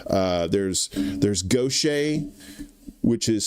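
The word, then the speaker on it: Gautier: Uh there's there's Gocha, which is spelled G- A T I E R.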